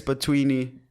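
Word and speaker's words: Bantwini: And you know when Zakes Batwini, is that how you say his name?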